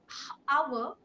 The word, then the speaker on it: hour: H-O-U-R, our, H is silent here, and last time just